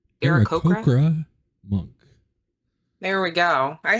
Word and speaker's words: Aarakocra: I'm probably gonna butcher this, but an Aracroa. Anybody else know how to pronounce? Aarakocra monk.